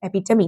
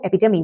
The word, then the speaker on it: epitome: This one is epitome, not epitome, epitome.